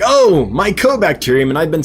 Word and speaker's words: mycobacterium: Like last week, I went on a whole rant about microbacterium. And realized the next day when Michael Wentworth brought it to my attention that I've been saying it wrong, that it's mycobacterium, not microbacterium.